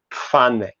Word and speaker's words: Pfanne: Okay, P at the beginning becomes P. So you pronounce this in modern German as Pfanne.